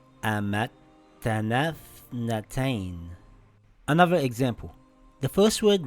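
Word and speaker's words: أَمَتَّنَا ٱثْنَتَيْنِ: Now we see a tha that has a sukoon, and before it is a long vowel. We drop the long vowel. Now we read it together as Amattanaa Ithnatain.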